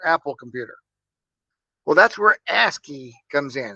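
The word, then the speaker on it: ASCII: Well, that's where ASKI comes in. It's pronounced ASKE.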